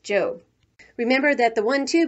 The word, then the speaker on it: Job: hui before going off to her job which in the bible is pronounced job remember that the one